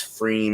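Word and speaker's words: pFriem: my light there uh p f r i m it's freeing that's how they say it it's a sub as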